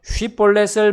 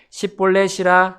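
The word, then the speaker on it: 쉽볼렛: 하면 그때 그들이 그에게 이르되 이제 쉿볼렛을 말해보라 하면 그가 그것을 제대로 발음하지 못하였기 때문에 십볼렛이라 하였더라.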